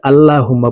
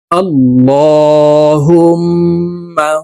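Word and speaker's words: اللَّهُمَّ: সহি শুদ্ধ হয়ে যাবে আল্লাহুম্মা সাল্লি আলা আমরা অনেকে আল্লাহুম্মা পড়ে থাকি এখানে ল বলতে হবে কারণ আল্লাহ শব্দের আগের হরফে জবর অথবা পেশ হইলে এই লামকে ল অর্থাৎ মোটা করিয়া পড়িতে হয় তারপরে দেখুন এই হা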